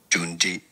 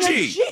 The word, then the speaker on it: Junji: Japanese pronunciation, Junji Ito. Yeah. You're saying Gunji.